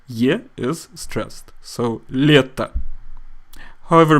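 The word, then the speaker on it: лето: here is stressed so leta however because the letter O is unstressed we pronounce it more like ah leta leta ocean ocean means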